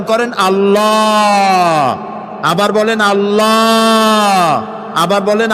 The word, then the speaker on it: আল্লাহ: আল্লাহর নাম আল্লাহ বলেন তো আল্লাহ নয় কিন্তু আল্লাহ হচ্ছে অশুদ্ধ শুদ্ধ হচ্ছে আল্লাহ বলার সময় মুখটা গোল হয়ে যাবে বলেন তো সবাই উচ্চারণ করেন আল্লাহ আবার বলেন আল্লাহ আবার বলেন আল্লাহ সুবহানাল্লাহ কি